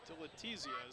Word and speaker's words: Dilatesia: I believe it's Dilatesia. Dillia is how you say his name.